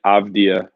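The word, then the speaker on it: Avdija: not a good thing denny abdia is how you say it avdia youngest player to ever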